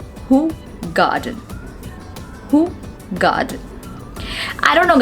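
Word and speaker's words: Hoegaarden: beer and the but the correct pronunciation of this word is not whole garden the pronunciation of this word is who garden who god i don't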